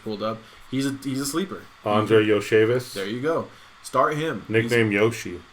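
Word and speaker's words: Andrei Iosivas: I'll let you say his name because I'm not going to be able to pronounce it. Who you just pulled up? He's a sleeper. Andre Yoshevis.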